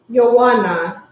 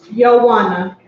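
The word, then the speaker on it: יונה: In Hebrew, dove is pronounced Yawana. Yawana. Yawana.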